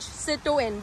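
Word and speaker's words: Citroën: That's pretty much how they pronounce it in French, Citroen.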